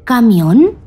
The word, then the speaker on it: camión: Siguiendo esta norma, ¿llevará tilde la palabra camión? ¡Sí! Camión lleva tilde en la O porque su sílaba tónica es la última y termina en N.